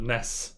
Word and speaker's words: NES: like a throwback to the ness or nes as the the americans say um era of games